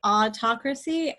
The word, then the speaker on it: autocracy: with the noun autocracy autocratic is a little bit different in how you say it than autocracy the emphasis is on a different syllable so this word is autocracy and this one's autocratic autocracy actually comes from